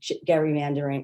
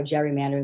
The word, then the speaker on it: gerrymandering: the um embrace of gary mandering or gerrymandering the way some political scientists might pronounce it but um they are